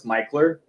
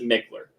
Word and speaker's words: Mickler: to say you know it's spelled any person that has an education is GNA pronounce it Mickler right but any locals like they'll they'll let you know oh it's micher you're not a local